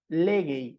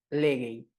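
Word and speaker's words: λέγει: Entonces, por ejemplo, aquí tenemos esta oración corta, teos legei, ¿verdad? Como legei está acentuado en su primera sílaba y acá también teníamos un acento agudo, este se sustituyó por un acento grave.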